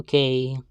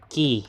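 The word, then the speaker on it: Kei: Hello, Kay, or Key, whatever or your name is. I actually like, what do you call this? Pronounce her name as Key instead of K, like Momoe does.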